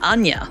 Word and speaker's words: Anje: people say it like I don't know what's correct Angie or Anya yeah I like Anya it sounds pretty sure it's Anya I just go for